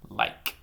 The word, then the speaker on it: like: the I from a short a sound to a long I sound well I like see the e didn't make any sound like like like like